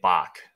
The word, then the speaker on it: Bax: Bax Outdoor said, I need to pronounce his name Bach.